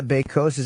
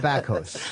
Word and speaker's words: Bakos: You're Nada Bakos. Am I saying it right? What kind of name is that? Bakos is Polish.